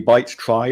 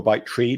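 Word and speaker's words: byte trie: more ex exotic ones a bite try or a bite tree depending on your preferred pronunciation and the easiest thing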